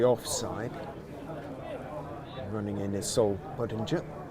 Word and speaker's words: Budinger: Running in is Sol Budinger. Is it with a hard G or a soft G? Yeah, as in ginger. Yeah, okay. Ginger. Budinger. Budinger.